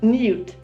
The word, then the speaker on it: niwt: This hieroglyph is pronounced Niyut and means city.